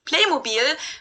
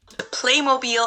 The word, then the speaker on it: Playmobil: half of this stuff english name for this playmobil but unlike how they did it with t-mobile they kept the german pronunciation of it for the american market too